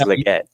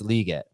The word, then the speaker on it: Legette: what do you say liate or Legette I I feel like everyone says Legette you I was saying that but it's liate that's what that's how he pronounced it so yeah I